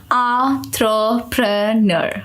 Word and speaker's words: entrepreneur: Certainly, the pronunciation of entrepreneur is as follows. Entrepreneur.